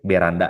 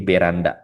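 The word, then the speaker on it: ベランダ: Tapi kalau bahasa Jepang dia B beranda ya. Kayak apa kayak teman kita yang dari suku Batak ya bacanya itu B jadi beranda.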